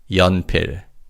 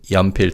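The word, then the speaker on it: 연필: Yanpir. And in this word, the first syllable yan means lead in the pencil. Let's say yampir together.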